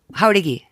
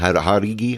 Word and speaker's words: Jauregui: Jauregui. Oh, it's not Harigi? I thought it was Harege. I do it wrong, huh? Jauregui.